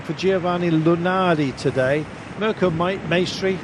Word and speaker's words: Maestri: Mirko Maestri, rhymes with pastry, may well indeed be doing his lead out.